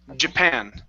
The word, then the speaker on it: Japan: Stress on the end. Japan. Japan. One more time. Japan.